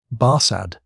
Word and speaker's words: Barsad: “Barsad,” said Defarge, making it French by pronunciation.